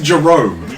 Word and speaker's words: Jerome: jerome it's not jeremy jeremy would need a y or two e's or a little thing above the e not an o for certain jeromy jerome